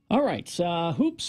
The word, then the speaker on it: Hoopes: Now, it's spelled HOOPES, Hoops Vision.